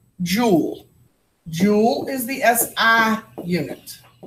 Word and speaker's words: Joule: scientists so we're going to use and it's pronounced Joule Joule is the SI unit and that's what